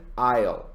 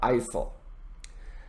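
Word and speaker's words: aisle: now notice the pronunciation isle not isil and the other term that we used is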